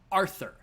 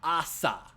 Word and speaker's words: Arthur: of king arthur pendragon arthur not asa pendragon not pen dragon prior to fake grand